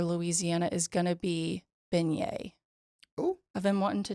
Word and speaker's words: beignet: they were in Louisiana because the beignet is spelled like beet yes baget baget and it's beignet so today's Louisiana word of the day is beignet it's not spelled like it sounds and it does not sound like it's spelled but nothing in Louisiana makes